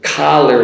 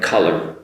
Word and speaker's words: collar: the stress because with collar like this one here, the word is strong on the first syllable. Collar, collar, strong ka, collar. If you don't make that collar, it sounds like color, color.